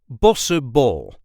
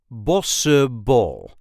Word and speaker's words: Bossche bol: Bossche Bol. Bossche Bol. Bossche Bol. Bossche Bol. As you can hear, the CH is not pronounced.